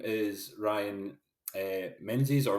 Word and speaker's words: Menzies: my name is Ryan Menzies or is actually the pronunciation that I go with which is the traditional way but that's fine it's